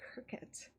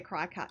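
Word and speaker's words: Cricut: me on her cricket i said it right see cricket um because i say cry cut just to upset people but kim made it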